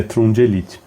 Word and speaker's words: Trungelliti: principalmente sobre o cara, deixa eu conferir na ATP a pronúncia para não assassinar o nome do cidadão do começo ao fim do do do podcast. E é Trum Elite.